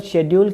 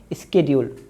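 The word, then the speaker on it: schedule: और total शेड्यूल कितने हैं? इसको शेड्यूल भी पढ़ा जाता है, मगर दरअसल इसका जो करेक्ट जो प्रोनाउंसिएशन है वो है स्केड्यूल।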